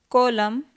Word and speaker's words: column: Column.